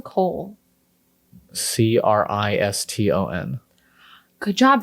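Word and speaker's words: Criston: Kristen, as in Kristen Cole. Kriston. Good job. That one was a trick because we say it like Kristen, You'd want to say, yeah, no. but it's Kriston.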